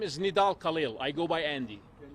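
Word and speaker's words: Nidal Khalil: today thank you your name my name is nidal khil I go by Andy can you spell it for us n i d a l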